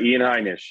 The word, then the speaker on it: Heinisch: okay I just want to make sure I'm pronouncing it right too is that correct Ian that is correct Ian heinish yep the hurricane thanks for pointing out our